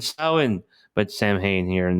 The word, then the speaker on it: Samhain: If before you missed this, the Samhain, or how do you pronounce it? It's like Samhain. That's how you pronounce it. The Irish accent, Samhain.